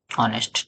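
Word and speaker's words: honest: ऑनेस्ट। ठीक? एच लिखा है। लेकिन इसको प्रोनाउंसिएट कैसे कर रहे हैं हम लोग? ऑनेस्ट।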